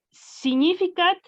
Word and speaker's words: significat: Significat personamque interdum recipit. Fíjate que es más fácil de lo que parece, porque ahora aquí tú leíste signi. En la pronunciación clásica leemos tal cual, Significat.